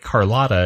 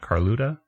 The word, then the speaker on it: Carlotta: Like Carlotta is how you say that, right? Isn't the girl's name Carlotta, not Carluta?